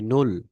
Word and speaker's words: null: যেমন এটাকে আমরা বলি নুল, ঠিক আছে, নুল। তারপর হচ্ছে, সরি সরি সরি সরি, জিরোটা দেওয়া হয়নি। এটাকে আমরা নুল না, উপরে এটা জিরো দিতে হবে। জিরো হচ্ছে নুল, কেমন?